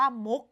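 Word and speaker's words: มุข: นะ คะ เด็ก ๆ ใน การ อ่าน คำ นี้ เรา อ่าน ว่า มุก อย่าง นี้ ใช่ ไหม คะ เด็ก ๆ เรา อ่าน เหมือน มี ตัว ก เป็น ตัว สะกด ค่ะ คำ ต่อ ไป ค่ะ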